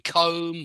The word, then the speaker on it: comb: the W in Sword don't pronounce the b in comb or bomb I mean we have